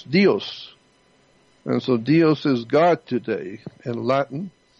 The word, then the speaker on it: Deus: It's spelled D-E-U-S, Deus. And so Deus is God today.